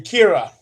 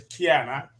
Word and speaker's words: Kiana: I was saying Kira, but it's Kiana.